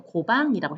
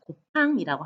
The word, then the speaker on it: 곱팡: 다른 지역 같으면 이거 고방이라고 했겠죠. 근데 제주도는 발음이 좀 세요. 곱팡이라고 합니다.